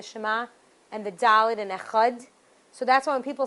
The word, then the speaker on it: Echad: and the dalid and echad? So that's why when people say Shema Yisrael Hashem Elokeinu Hashem Echad, because we want to pronounce that dalid, that aid.